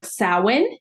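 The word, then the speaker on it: Samhain: a m h a i n but it's pronounced sin and so it's Celtic and so that is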